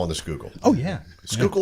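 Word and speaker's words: Schuylkill: the skookle oh yeah skookle is a river that runs through Pennsylvania for those that are not from this area and it's spelled s c h u k i l l is it I don't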